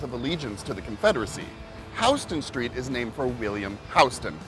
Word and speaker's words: Houston Street: And though it's spelt the same way as the big city in Texas, Houston, it is Houston Street.